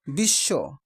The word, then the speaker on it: বিশ্ব: কিন্তু পূর্ববর্ণ দীপ্ত হয় যেমন বিশ্ব শব্দে বফলা উচ্চারণ নেই কিন্তু তার পূর্ব বর্ণ কি হয়েছে দীপ্ত হয়েছে মানে দুইবার উচ্চারিত হয়েছে বিশ্ব তার মানে তালব্য